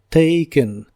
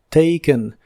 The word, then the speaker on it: taken: pasado participio es taken la a de esta palabra se pronuncia como e taken taken y significa tomado en